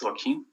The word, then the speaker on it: Joaquin: pronounce it oh uh it's joaquin like the actor routine thank you no